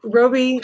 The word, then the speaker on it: Roby: Roby is how I pronounce it. Oh, Roby.